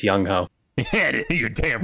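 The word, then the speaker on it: Younghoe: was born in Seoul and his name is pronounced Yong hue so it's young ho yeah you're damn right it's yongo all right uh Green Bay Tampa Bay this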